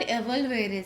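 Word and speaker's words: evolvere: Latin word एवोल्वेरे से, एवोल्वेरे क्यों बोल रहे हैं हम, क्योंकि एक लैटिन वर्ड है, इसका प्रोनाउंसिएशन ऐसे होता है।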